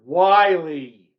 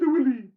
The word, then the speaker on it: Wiley: But their phone calls from India, you can always tell when someone from India is calling because they don't know how to pronounce the word Wiley. It's Mr. Willie.